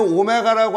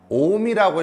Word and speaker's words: 옴: 오메가를 쓰고 읽을 때는 오메가라고 안 읽고 뭐라고 읽죠? 옴이라고 읽어 주는 거야.